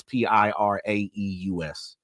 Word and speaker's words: Piraeus: So that's him arriving back in the city of Olympiacos, which is, I don't know how to pronounce it. It's Piraeus.